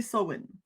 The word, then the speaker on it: Samhain: Mais de ce que j'ai compris, la bonne prononciation, c'est Samhain. En anglais.